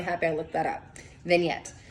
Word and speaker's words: vignette: have pronounced that, and that's not how I pronounce it in my head. So I'm really happy I looked that up. Vignette.